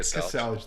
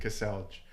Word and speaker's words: Kaselj: That's the English way of saying it, Kaselj. One syllable, just you see all the letters, Kaselj. That's not one syllable. Kaselj, that's not one syllable, that's 2. Kaselj. Okay, 2 syllables.